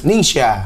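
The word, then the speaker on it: Ningxia: Ning bacanya gimana nih? Ningsia.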